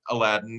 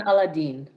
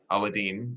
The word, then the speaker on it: Aladine: when we start with lorianne aladdin and i hope i'm pronouncing your name correctly laurie anne dorian aladine aladine i apologize um can you tell